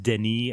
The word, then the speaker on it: Denis: yeah Villa yeah it's it's like it's it's pronounced Deni and his last name is pronounced like V